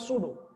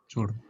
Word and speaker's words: pseudo: So P is in this silent. So it's called pseudo. Sudo.